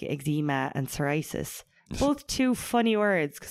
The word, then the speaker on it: psoriasis: And some people say psoriasis. Psoriasis. Is it with a P? Sorry, it's with a P, but the P is silent.